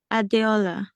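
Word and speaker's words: Adeola: e o l a so how do you pronounce it adola adola adola how are you I'm okay so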